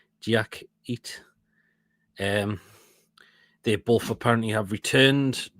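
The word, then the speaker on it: Diakité: Diak, that's how you pronounce his name. Diakite.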